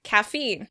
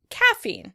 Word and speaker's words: caffeine: Caffeine. In British English, the word would be stressed on the first syllable. Caffeine. Caffeine. In American English, the word is stressed on the second syllable.